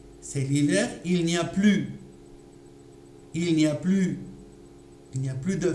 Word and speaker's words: plus: Par exemple, c'est l'hiver, il n'y a plus de fleurs dans le jardin. Alors, ici, le mot plus dans cette phrase, d'accord, on n'entend pas le son S. On entend donc la voyelle U.